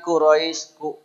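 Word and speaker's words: قريش: pendekili tib kemudian Qurais kesalahan pada membaca Quraisy biasanya Q huruf q ada yang banyak belum bisa atau tidak tahu ya Dari dulu kita liilfi Qurais ya tidak melihat ke Quran sehingga tidak tahu itu Q apa Kaf ya kita sampaikan Qurais itu dengan Q qo Qi qu qu ya nyeklok begitu kata orang Jawa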